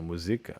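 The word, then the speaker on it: מוזיקה: Generally stress before the second to last syllable only in foreign words. So musica, okay.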